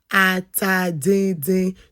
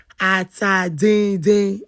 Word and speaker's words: atadindin: I have colleagues that say, "How do I pronounce atadindin soup?" It's called atadindin. To my friends that eat my food, but you're not Nigerians, it's pronounced atadindin.